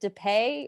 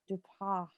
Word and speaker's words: Depay: Memphis, is it Dupay or Dupas? I'm gonna say Dupay, and because that's how the girls on The Real pronounced it.